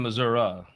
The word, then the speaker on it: Missouri: footprint in Missour in Republican politics Nationwide and Missour yes yeah that is the way you say